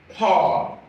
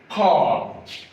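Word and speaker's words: כָּל: As we see in this word, kol. Kol. That means kamatz qatan sounds as o as you pronounce the o in tall.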